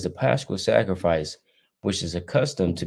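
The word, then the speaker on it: πάσχα: Pascha. Pascha.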